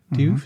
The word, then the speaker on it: Diouf: Diouf, is that how you pronounce it? Diouf, yeah.